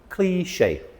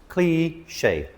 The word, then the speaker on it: cliché: Cliché. Cliché. 2 syllables.